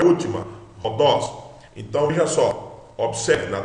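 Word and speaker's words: ὁδός: Veja que a acentuação está no dos. Então, é Rodos, forte, sílaba forte é a última. Rodos.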